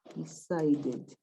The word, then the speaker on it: decided: in an E, but the last sound is a D. Decide, yeah. But if I see the pronunciation, decided. Decided. Yeah. So in those two cases, ending in the sound T or D, you pronounce id.